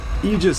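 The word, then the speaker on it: aegis: that same run anymore there's a weird superiority that comes from knowing how to pronounce words correctly it's a weird time and egis is one of those words you you'll hear people say Aus a whole hell of a lot until you play Fire Emblem oh nope the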